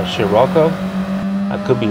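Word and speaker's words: Scirocco: right here this uh i believe the way to pronounce the name of that volkswagen is uh shiroko i could be wrong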